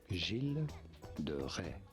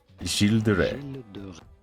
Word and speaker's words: Gilles de Rais: For reference, it is said as Gilles de Rais. Gilles de Rais.